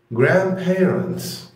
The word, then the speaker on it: grandparents: grandparents grandparents grandparents. لاحظ ان في دي هنا انا ما نطقتهاش، قلت grand ما قلتش grand. لا grand يعني دي مش بتتنطق، بيتقال عليها silent.